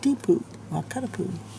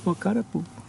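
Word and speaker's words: Wakatipu: know could be like if you want to get just the Poo sound like wakat poo but it's spelled w a k a t i pu U Wako wak poo wak poo by early afternoon afternoon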